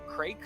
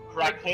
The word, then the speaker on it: Kraken: Also, is it pronounced Crake Spawn? Craig, sure. It's Kraken spawn.